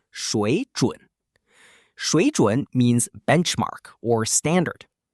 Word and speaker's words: 水准: Next, we have 水准, pronounced 水准.